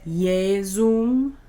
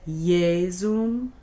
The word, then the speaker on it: Iesum: Et Iesum, J is a ye sound. Et Iesum, et Iesum, benedictum fructum ventris tui.